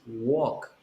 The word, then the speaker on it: walk: no walk it is walk walk walk you don't pronounce the l it's only like oh